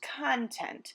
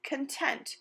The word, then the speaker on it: content: You may have heard this word pronounced content, in which case it is a noun, but the way it's used in our stories this week is content, which is an adjective or describing word in a sentence.